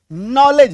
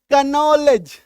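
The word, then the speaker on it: knowledge: एल इ डी जी के को काट दो नॉलेज नहीं तो क्या हो जाएगा कनलेज है ना आ रही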